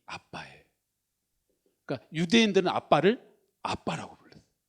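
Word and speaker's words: Abba: 알파가 성경에서 아버지란 뜻이에요 근데 발음이 우리나라랑 똑같아요 발음이 아빠예요 그니까 유대인들은 아빠를 아빠라고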